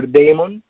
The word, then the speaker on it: daemon: okay this Klein which communicates with the docker demon okay or daemon to write to say it correctly leymah so